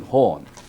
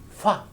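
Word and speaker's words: 法: In Chinese, fa. In Japanese, ho. In Korean, pop.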